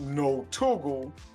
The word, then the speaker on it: Notugle: She's like, put not in front of it, not Ugly. And when you put it together, it comes out Notugle is the proper way to say it.